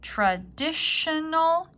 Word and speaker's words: traditional: a tongue-twister traditional dish dish dish even though it's spelled differently this T is actually an SH sound Sh traditional dish tongue twister the answers might include I